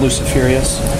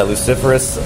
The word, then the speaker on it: Luciferous: Track 9, Luciferious. Sure, yeah, Luciferous. Said it wrong too.